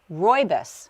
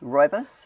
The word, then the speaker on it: rooibos: It is pronounced rooibos. Rooibos?